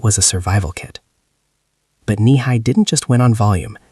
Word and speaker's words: Nehi: The brand name was Nihi, pronounced kneeh high.